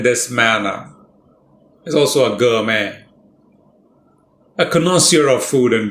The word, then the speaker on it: gourmet: 2 syllables. The first syllable is stressed, but note the way the first syllable is spoken. Gour, oo. That's called a diphthong. Oo and together. Gourmet.